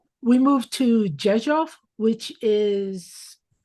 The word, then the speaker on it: Rzeszów: Rzeszów. Yes. Wow. Rzeszów j e it sounds like j e s o f f.